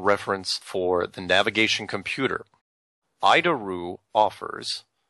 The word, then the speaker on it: ADIRU: So, the ADIRU system, also known as the Air Data Initial Reference Unit, we pronounce it IDARU, is the standard in modern avionics.